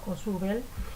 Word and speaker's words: Ausubel: Entre los autores constructivistas se encuentra un autor que yo pronuncio Ausubel. En los videos que van a ver ahora con ejemplos y que han realizado estudiantes como ustedes, van a encontrar la pronunciación de otra manera.